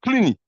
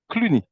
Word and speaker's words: Cluny: the museum you just mentioned, and can you spell it? Okay, I'm going to show it. It's called Cluny. C-L-O-U-N-Y. But here there is a little panel where it's written. So like that you can see it. Cluny.